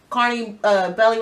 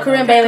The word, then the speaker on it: Corinne Bailey: I say she's like the corny, Carney Bailey. I can't pronounce her. Oh, Corinne Bailey.